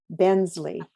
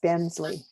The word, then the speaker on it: Benzle: recently at inseca that his last name is pronounced Bensley so it's Curtis Bensley Kurt it's all yours